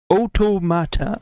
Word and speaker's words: Automata: a so in interviews yokaro pronounced it Oto mat okay otoa with the last part of the work pronounce in the same Rhythm as Matata in h Hakuna Matata Auto okay interesting you